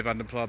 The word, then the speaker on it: Vanden Plas: I always say Vanden Plas because publicity material in the mid-80s for Austin Rover used to use that pronunciation, but other ones are also acceptable, of course.